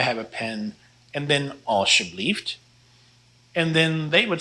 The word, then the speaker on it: alsjeblieft: This word is pronounced alsjeblieft.